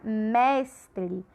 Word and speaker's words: mestre: Aqui um outro exemplo, a palavra mestre. Mestre, ó, mestre. A gente fala com maior intensidade. E aqui a sílaba é a penúltima, então ela é paroxítona também.